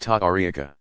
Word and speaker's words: tariqa: Spiritual guides of the various Sufi organizations called orders or paths, tariqa, pronounced ta'ariqa, also generally bear the title of sheikh or its Persian equivalent, pir, pronounced pir.